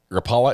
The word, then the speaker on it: Rapala: like in car raw you have to roll your RS and stress the first syllable as well okay spell this out